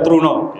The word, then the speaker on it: Truna: Bapak Ibu sekalian, jadi warga Truna Manggala, kalau Truno di Jawa ya. Ini saya ini lidah Jogja, lidah Jawa itu bacanya Truno. Ini Truna Manggala, kemudian daerah Babakan pedes.